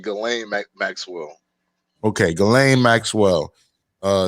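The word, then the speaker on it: Ghislaine: do you know yeah uh galen it's actually gallant maxwell okay glenn maxwell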